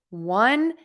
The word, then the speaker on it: one: for you it is one and one so think of both of these words being pronounced w-u-n one so there's no o in either of those words it's just one and